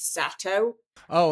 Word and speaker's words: Sato: off the bat here it's um the actual pronunciation is sat oh okay that's I need to know so thank